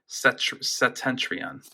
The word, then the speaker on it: Septentrion: Then 2 Septentrion. I think the P is silent. Septentrion.